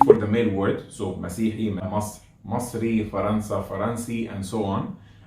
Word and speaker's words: مسيحي: By the way, even in Masry you'll find it sometimes pronounced faster. So to be Msihi, Sihiyya, Sihiyin, like that.